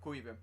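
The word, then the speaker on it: Caoimhín: By the way, that's the right way to pronounce it, right? Caoimhin. Because Irish names, they're so difficult to read. They're not too difficult to pronounce, but it's just difficult to read, isn't it?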